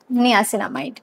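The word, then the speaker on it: niacinamide: আচ্ছা, এটা night cream একটা মামাআর্থেরই, রাইস ওয়াটার অ্যান্ড নিয়াসিনামাইড বা নায়াসিনামাইড, এটা অনেকে অনেকভাবে প্রোনাউন্স করে, আমি নায়াসিনামাইড বলি, তাই জন্য আমি নায়াসিনামাইডই বলবো।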